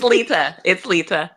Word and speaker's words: Leta: It's Leta.